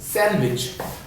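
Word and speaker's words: sandwich: इसमें ना D silent रखते हैं सैंडविच में, इसको क्या बोलेंगे? सैंडविच। सैंडविच, सैंडविच।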